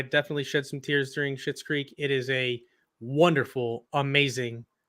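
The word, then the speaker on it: Schitt's Creek: the finale of uh shit's creek is it that's how you say it yep shit's creek but i stand by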